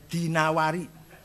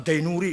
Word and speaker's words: Dinawari: hebat dinawari yang ada ini bacanya dinawari jamaah dainuri enggak ada kota Dino adetina War al-asma'i